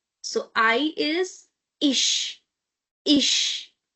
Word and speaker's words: ich: Because before ch we have I, so sh sound.